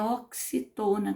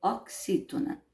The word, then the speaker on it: oxítona: Então, a gente chama de oxítona, não é oxitona, como algumas crianças falam, não. É oxítona.